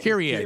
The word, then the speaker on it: Kyrie: It's Kyrie? Is that how you say it? Kyrie? Kyrie. That's right.